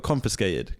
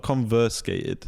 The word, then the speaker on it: confiscated: you say it confiscated you say fist in confiscated confiscate it got confiscated confiscated conf not conversated confiscated confiscated conf you're making